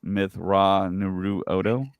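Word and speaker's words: Mitth'raw'nuruodo: So I was telling Zach earlier, if you just kind of break it down, break it up, I think it's pronounced Myth Ra Naru Odo.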